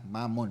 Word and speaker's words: Mammon: Hindi yung Mammon, Mammon ang pronunciation natin.